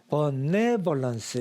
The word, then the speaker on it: benevolence: 그러면 benevolence 모음인데 강세가 없으면 전부 다 어라고 발음하면 대충 다 맞는다. 이게 미국식 발음의 특징입니다. 그러다 보니까 benevolence 이렇게 되는 거고요.